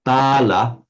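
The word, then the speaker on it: bāla: difference between words like, sometimes it's just vowel length makes the entire difference. We have bala, meaning strength or power. Yes. And bala, which means a child or a childish person, a fool.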